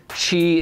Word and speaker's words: Qi: I know it looks like Energy, but apparently Qi is the way that you pronounce QI, which is the wireless charging standard that works in most modern smartphones.